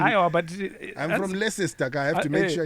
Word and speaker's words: Leicester: It's called Leicester.